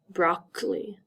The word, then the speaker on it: broccoli: example a bad example we see two C's broccoli this first C is in front of a c what is the second C in front of is it in front of an e i or Y no it's in front of the letter O so that means it is